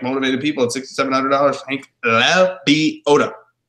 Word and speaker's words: Lebioda: Nobody can pronounce it. It's Lebioda.